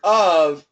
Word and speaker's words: of: v so the word of and everybody needs to know the word of the spelling is an F but the pronunciation is a v so the VW we